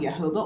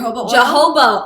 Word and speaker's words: jojoba: like coconut oil or i think it's called jojoba oil even though it's spelled with a j yeah jojoba oil yes um you